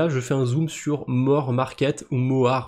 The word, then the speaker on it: MOAR: fais un zoom sur More Market ou MOAR. À mon avis, il faut le prononcer Mor Market, c'est un jeu de mot, je pense.